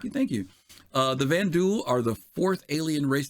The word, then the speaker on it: Vanduul: more depth here uh the vanduul pronounced vanduul are a race in star